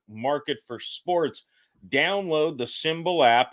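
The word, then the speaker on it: Simbull: by making Sports fandom profitable that company is symbol the stock market for sports download the symbol app it's spelled s-i-m-b-u-l-l and use the promo code FL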